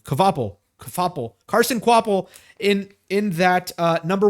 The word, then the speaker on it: Kvapil: And Carson Kvapil in, how do you pronounce that name? Kvapil.